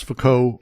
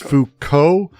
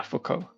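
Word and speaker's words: Foucault: two things first off I used to pronounce fuko like you I'm just going to mention it's fco like ho yeah fukco fukco just I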